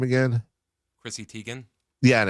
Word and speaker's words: Chrissy Teigen: Chrissy Teigen. Yeah, and it's Christy Teigen. That's how it's pronounced.